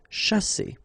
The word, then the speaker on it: chasser: sh, sha, and then here you've got a double S between the two vowels, so the S is really strong. S. Chasser.